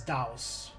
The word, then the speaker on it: Daos: fought against doubt i the game pronounces it as daos but i don't know i don't know if i can keep that up the whole time so i'll try to just say deus and we get the